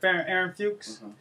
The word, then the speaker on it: Aaron Fuchs: know, before I want to say, you know, Aaron Futch. Is that how you say his name? Aaron Fuchs.